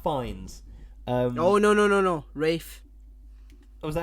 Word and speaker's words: Ralph: It's spelt Ralph, but he says it's Rafe.